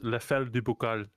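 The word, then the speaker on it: Les Fêlés du Bocal: For people who want to know, you pronounce it as Le Fel du Bocal.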